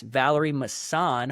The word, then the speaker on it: Vallery-Masson: Um so today we're going to be chatting with Max Valerie MSAN. Hopefully I'm pronouncing your name right, brother.